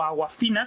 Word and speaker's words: Awkwafina: Es Awkwafina, la actriz Awkwafina, o la actriz y cantante Awkwafina, o Awkwafina, como se debería pronunciar realmente, pero bueno.